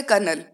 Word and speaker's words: colonel: first है कर्नल, हम इसको कर्नल बोलते हैं कि कर्नल की पोस्ट